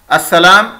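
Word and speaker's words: السلام: अस्सलाम इसकी प्रोनाउंसिएशन अदाई में मीम के ऊपर पेश पढ़ा जाता है और लिखा नहीं जाता।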